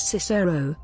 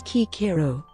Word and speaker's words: Cicero: he is 100 and is free to pronounce Cicero as Cicero and not as Kikiro.